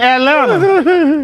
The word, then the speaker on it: Atlanta: that's just like saying Atlanta hey what they was talking about uh Brian Kelly talking about the fact that he says both T's in Atlanta that's how you say it I guess Atlanta but